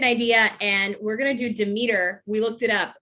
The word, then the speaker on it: Demeter: and we're gonna do demeter we looked it up it's demeter not demeter i was saying it wrong um and she is